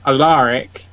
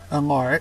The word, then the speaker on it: Alaric: was when I wanted aaric to yes did you all hear that aaric Alaric I pronounced it right Alaric Al yeah garlic